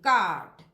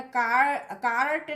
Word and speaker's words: cart: In RP the letter R is silent before consonants. अगर consonants के पहले कोई R है तो उस R का pronunciation नहीं होगा। जैसे CART, काट, है ना, इसको क्या बोलना, कार्ट नहीं बोलना, काट।